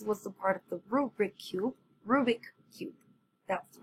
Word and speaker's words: Rubik's Cube: Okay, so this was the part of the Rubik Cube. That's the right way to say it. Rubik Cube.